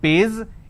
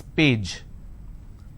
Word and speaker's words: page: If I have the word which is page, they pronounce this as pays. It's not pays, it's page.